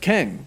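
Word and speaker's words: QENG: it says q-e-n-g and if you pronounce that it actually does sound kind of like keng however this is an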